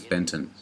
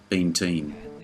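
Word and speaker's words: Benteen: the name of Custer's subordinate is incorrectly being pronounced as Benton when his name is actually been teen the Hallelujah Trail 1965 a wagon train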